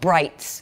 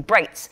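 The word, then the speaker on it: brites: and these things were called brights, B-R-I-T-E-S. It wasn't even, it was spelled like light, you know, brights.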